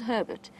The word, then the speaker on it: Herbert: I've just heard exciting reports that Herbert has found, and it is Herbert, that is how he says his name, despite the slight miscommunication that has occurred within camp in terms of how to pronounce it.